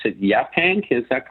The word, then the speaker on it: Yaphank: Is it, I believe I'd pronounce it Yaphank, is that correct? Yeah, Yaphank, yes.